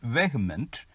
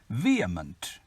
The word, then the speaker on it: vehement: pronunciation practice one wearment this is normally pronounced as vehement but the right pronunciation is vehement showing strong passionate feelings